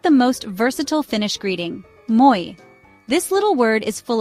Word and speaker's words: moi: Moi is pronounced just like the English word moi, with emphasis on the first syllable.